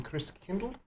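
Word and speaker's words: Christkindl: with the the pronunciation Chris Kindle Chris Kindle marked yep so we went with the German spelling and the German pronunciation and then do that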